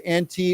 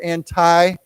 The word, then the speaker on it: anti: again this word anti we can say anti or anti either way is okay anti anti anti State